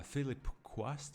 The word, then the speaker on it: Philip Quast: uh the legendary like uh performance of uh philip quast is how you say his name the dude